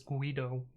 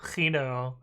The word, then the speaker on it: Guido: The G should be a Dutch G. What is the Dutch G? Is it the Guido? the guttural G?